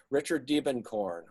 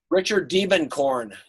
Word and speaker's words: Diebenkorn: take a look at uh demon corn's work richard diebenkorn probably the greatest uh greatest artist american artist